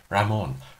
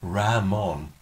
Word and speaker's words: Ramon: that his real name that's great it's French Ramon Ramon that's how you pronounce it Stewart became Stuart to stall after